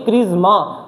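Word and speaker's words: charisma: इसकी प्रोनाउंसिएशन पे ध्यान मत करना, इसकी प्रोनाउंसिएशन होती है क्रिज्मा, ज आता है, लेकिन इसमें आ क्या आ रहा है?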